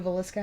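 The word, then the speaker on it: Villisca: And she's like, well, have you heard of the Velisca house? That's how you say it, right? The Velisca house? Mm-hmm. Is that how yeah, that's correct.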